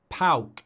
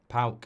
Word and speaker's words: PAOK: PAOK, that's how you do it. It's PAOK or PAOK.